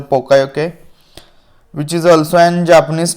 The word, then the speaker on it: Poka-yoke: You can pronounce it as a pokayoke, which is also an Japanese term.